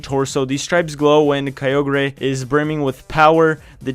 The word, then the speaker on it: Kyogre: I pronounced it wrong. RIP. So it has a primal Kyogre and a regular one. Kyogre.